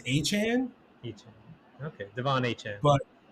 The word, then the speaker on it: Achane: I think it's Achane, Achane. Okay, Devon Achane. but it looks like it's pronounced A-Chain for years, and then he came out and said it's A-Chain.